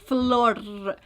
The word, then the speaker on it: Flor: You gotta roll your R. Flor.